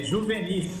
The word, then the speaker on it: Juvenis: me corrija aí na pronúncia do seu sobrenome. É Juvenis, é isso mesmo? Bom dia, Bruno. É Juvenis. Juvenis? Ah, então tá bom.